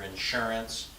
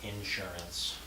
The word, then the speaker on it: insurance: Insurance or insurance. When I go to school in Washington, everyone says insurance. That's wrong. We know that over here. They don't know that. It's insurance. Second syllable, not first syllable.